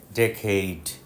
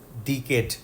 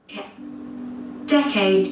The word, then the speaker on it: decade: 10 বছরে এক দশক হয় ইংরেজিতে ডেকেইড ডিকেড না ডেকেইড ডেকেইড Decade.